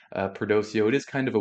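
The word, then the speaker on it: Perdoceo: looking at is uh prdo which is perdocio education group I believe that's how it's pronounced perdosio it is kind of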